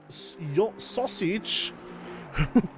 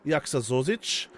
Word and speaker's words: Jaksa Zosic: So if we look further up the grid, we have sausage. that was a bit too Britishly pronounced because it is Jaksa Zosic.